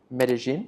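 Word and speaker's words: Medellín: New York, Miami, Medellin, is that how you say it?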